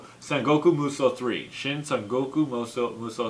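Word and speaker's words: Sengoku Musou: is actually dynasty warriors four but it's actually pronounced sengoku muso three shin sun goku muso three so there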